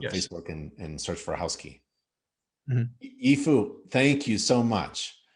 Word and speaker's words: Housky: yes and it's housekey at uh housekey doio is the main URL housek key.